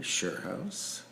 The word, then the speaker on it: Schuurhuis: our guests uh my name is Roy Henry sherouse pronounced in my native tongue of my Dutch parents would be house my pronouns are he